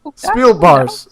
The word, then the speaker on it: Speelbaars: get it right spill spill boss Spiel bar Spiel bars okay Spiel bar Spiel bars I am impressed